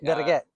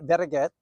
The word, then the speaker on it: Vereget: yep really seriously how if you were to say better get better okay see I can do I can I got a Vasquez right so I'm here with better get uh from Luxstone uh